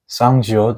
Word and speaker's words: 쌍지읒: 쌍지읒 is a sound similar to 지읒, but you should pause your breaths beforehand like 치읒, but it has to be much stronger.